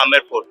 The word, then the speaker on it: आमेर: आप टिकट में देखेंगे ए एम बी आर B silent हो गया आमेर नाम रखा गया है लेजे के हिसाब